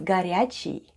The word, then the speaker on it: горячий: The first sound is G, then goes O, which is unstressed and pronounced as A. Then we have R, Ya, then goes Ch, E, and E short at the end. And altogether it's горячий.